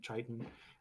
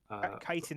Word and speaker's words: chitin: Yeah, none of them have chitin, or is that the pronunciation? Chitin. Chitin or chitin. Yeah, chitin. Both are acceptable.